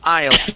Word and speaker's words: I'll: Pronounce that L. I'll.